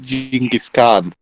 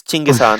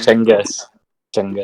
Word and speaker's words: Chinggis Khan: The funny thing people about this with people thought it's pronounced Genghis Khan. It's Chinggis Khan. Chinggis.